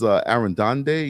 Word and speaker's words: Arredondo: She says, Arredondo.